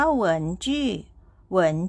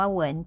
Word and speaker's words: 文: สะกด ยัง ไง ค่ะ คำ ว่า เหิน นะ คะ มี พยัญชนะ ก็ คือ Double U ค่ะ เป็น พยัญชนะ กึ่ง สระ นะ คะ ออก เสียง อู ค่ะ ตาม ด้วย สระ อีก 2 ตัว ก็ คือ E กับ N นะ คะ ออก เสียง เอิน ค่ะ วรรณยุกต์ เสียง ที่ 2 ใส่ ไว้ บน ตัว E ค่ะ มา ผ่าน คำ นี้